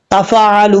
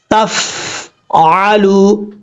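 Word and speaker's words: تفعلوا: पेश लू तफ आलू यहां पर भी फा साकिन को पढ़ते हुए कई लोग मिस्टेक कर जाते हैं गलत पढ़ जाते हैं यानी फा कलकल के साथ पढ़ जाते हैं ऐसा नहीं करना फा साकिन है साकिन ही पढ़ा जाएगा तफल नहीं पढ़ना तफ आलू इस तरीके से पढ़ना है ये ता जो दो नुतो वाला है ये बारीक पढ़ा जाएगा इसको परर पढ़ने की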